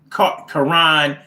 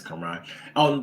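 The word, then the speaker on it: Caron: And Michelle Karan Smith, Highsmith. Now that could be Michelle Karen, but it's spelled with a C. C-A-R-O-N. I think that's Karan.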